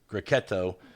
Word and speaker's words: Grechetto: Grechetto de Orvieto.